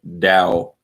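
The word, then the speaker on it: Tao: is the way or the dao and that's spelled t-a-w but it's said dao in english it's said with a d um and i have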